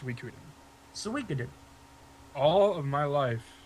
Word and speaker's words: Suikoden: So, it's actually pronounced Suikoden.